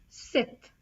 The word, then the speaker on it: cet: And if the masculine singular noun starts with a vowel, then you put cet, C-E-T, pronounced as Seth, Seth.